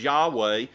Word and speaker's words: Yahweh: name by which he revealed himself which we pronounce as yahweh speaks to his independence it means i am